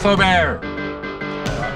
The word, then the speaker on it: Feaubear: who you're talking to because it's pronounced forebear it's bobo don't listen